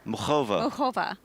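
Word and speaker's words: Muchová: benefit just very clearly and slowly the correct pronunciation of Karolina whatever is it's Carolina no mhova mhova mova yes mhov you're still saying it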